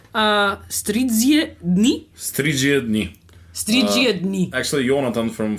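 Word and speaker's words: Stridžie dni: since we can't understand Slovakian, or we can't pronounce it either. How do you say Stridzie dni? Stridzie dni.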